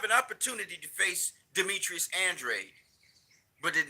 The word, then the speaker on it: Andrade: it was he did he avoid facing Demetrius Andre absolutely did he avoid facing no let me